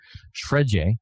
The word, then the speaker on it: Fred: Shredje, I think is kind of how it's said there in Brazil, but Fred for Manchester United gets in the squad.